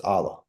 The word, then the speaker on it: Alaa: name like and again most people can't say my name with with the the letter in Arabic um it's Allah and so you can